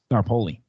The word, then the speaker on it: Staropoli: Staropoli.